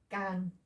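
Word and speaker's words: גן: Okay, so this is the gamel, ga. Sound of the vowel is the A vowel, final N at the end, gahn, which is garden.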